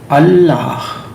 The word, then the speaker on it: Allah: the when we say the word allah it has two syllable law goes on when you say ah the actual sound although you say but the sound is ah our sound goes deeper